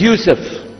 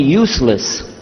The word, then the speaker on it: Yusuf: by some other gone my name is Yusuf he say Yusuf very good I wish you teach my wife she keeps mispronouncing it she calls me useless humbly now how many